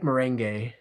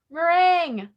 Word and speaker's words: meringue: I like merengue. Meringue. Oh, is that not how you say it? Merengue? It's like lemon meringue pie.